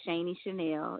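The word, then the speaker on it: Shani Shanell: With Shaney Chanel. It's spelled SHANI.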